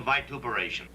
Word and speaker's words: vituperation: We're not here for any personal vituperation. You know that word? What? Vituperation. That's what I said. I pronounce it right.